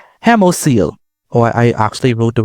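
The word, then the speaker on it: hemocoel: I I'm pronouncing that wrong. Hemosil.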